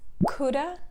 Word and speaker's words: could have: between it's pronunciation time we don't really use have in spoken english we replace have with a sound the most common uh sound in english uh so it becomes coulda shoulda for example i